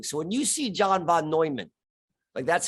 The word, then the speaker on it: Neumann: So when you see John von Neumann, that's how they like to pronounce it, John von Neumann.